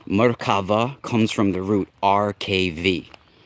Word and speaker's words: Merkava: Now, I believe and this is where the Merkava, I know you guys like to say it with a B, the Merkava, it's Merkaba, it's actually Merkava.